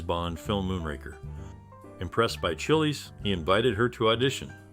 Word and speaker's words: Chiles: film Moonraker impressed by Chili's he invited her to audition it's worth noting that her surname is pronounced similarly to files but with a CH at the beginning Lois Chile's journey into acting and